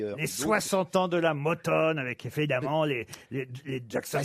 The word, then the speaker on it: Motown: Comment on doit dire Motown. Oui, oui, Motown. It's Motown, Motown. oui, je dis bien Motown. Oui, oui, oui. Les sanglots longs de Motown. Ouais. Town, you know, you have to pronounce Motown.